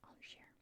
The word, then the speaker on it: Angers: the capital of Anjou, the city of Angers. I see, that's how you say it, Angers.